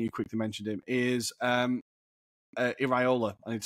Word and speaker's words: Iraola: Also, a manager that I'm super excited about, I think you quickly mentioned him, is Iraola. I need to say it properly. Yeah. Iraola at Bournemouth.